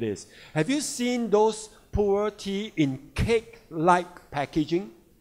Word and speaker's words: pu'er: The traditional pu'er tea, and they are pu'er tea in China, pronounced as pu'er, and then from now on, Atomy Pu'er tea will make it pu'er tea.